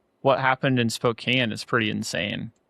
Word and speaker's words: Spokane: And he's up in Spokane. Yeah, Spokane. I've never known how to say it. Spoke Spokan. Spokan. Spokane.